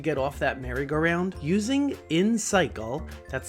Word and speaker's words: Insycle: This podcast is brought to you by InCycle.